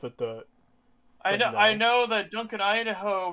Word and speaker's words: Duncan Idaho: I know that Duncan Idaho rhymes with he's a hoe, so we should all laugh at that.